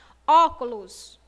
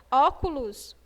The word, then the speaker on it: óculos: Óculos. Falou a pronúncia aberta, não é isso? Óculos, clus. Óculos, a pronúncia tem um som aberto.